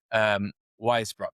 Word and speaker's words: Weisbrot: But for the audience who don't really know who is Steven Weisbrot? And hope I'm pronouncing that well as well.